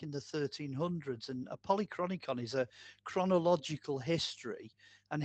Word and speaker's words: Polychronicon: I can't pronounce it. Yeah. No, I know. Polychronochrome. Yeah, Polychronicon.